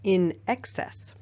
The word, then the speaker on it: INXS: a band called INXS INX s pronounced in excess which was the motivational